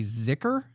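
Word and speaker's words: zikr: Um, and then you have what is called a ziker. Z I K R I think is how you say it.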